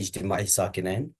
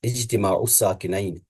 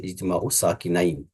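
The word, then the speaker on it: اجتماع الساكنين: ہم جو آج ٹاپک پڑھ لیں گے وہ ہوگا ہمارا اجتماع الساکنین. عربک میں ہم اس کو کہیں گے اجتماع الساکنین، اور فارسی اردو میں ہم پڑھ لیتے ہیں اجتماع ساکنین، اس طرح سے پڑھ لیتے ہیں ہم.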